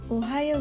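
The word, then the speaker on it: おはよう: Ohio mari ucapkan bersama-sama Ohio Ohio Ohio gozaimasu ohayou gozaimasu ohayou atau ohayou gozaimasu adalah salam yang diucapkan antara pagi hari sampai kira-kira 11.00 namun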